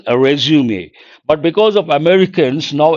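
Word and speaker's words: résumé: The Strokes are important I guess it's a French word how do you pronounce this resum actual pronunciation resume but because of Americans now everyone says resume information about yourself bring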